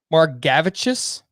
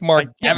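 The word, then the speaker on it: Margevicius: Nick Margavicius? That's how we're pronouncing it, right? Nick Margavicius.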